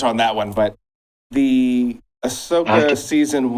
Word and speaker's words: Ahsoka: Osaka? Is it Ahsoka? For example, Star Wars again? Ahsoka, yeah.